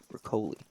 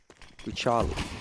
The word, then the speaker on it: Riccioli: It's not pronounced Riccoli. Riccioli. Italian.